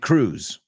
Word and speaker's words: Cruz: So Cruz, like Penelope Cruz, or what's her sister, Monica Cruz, we pronounce it Cruz.